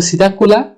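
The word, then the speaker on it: Psittacula: पजन भी कहते है सीता प साइलेंट है तो सीता कुला को हम पैरोट भी कहते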